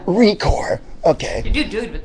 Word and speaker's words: Recor: right d Dusty Dusty record is it Rec it's recor yeah recore okay you do dude